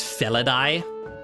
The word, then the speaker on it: Felidae: but as a shorthand, the way we in modern times pronounce it, we pronounce AE like I.